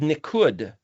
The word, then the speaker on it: nikud: Well, the dots are called nikud, nicked. Same, like nicked and dented, damaged.